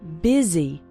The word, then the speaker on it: busy: in fast spoken English the word busy is pronounced with an i sound busy and the word and